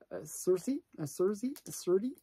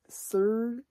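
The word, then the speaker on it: Szerdy: Serdi. That's the way you pronounce it.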